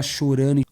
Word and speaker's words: chorando: Todo mundo gritando, mano, a favela chorando. Mano, a favela chorando. Bro, the favela crying. Same thing with chorando.